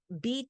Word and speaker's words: bit: bit by bit and it's not even beat the americans call it beat because of the misunderstanding and pronunciation of stanislavski he meant bit stanislavski man bit b-i-t but it was heard due to his acts and that he was pronounced something else so for him to